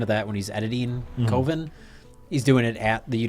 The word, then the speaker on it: Coven: And he doesn't want to call it Coven because Coven sounds like oven.